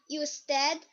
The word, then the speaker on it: usted: And then when you're pronouncing with the U, it's u, usted, and ustedes.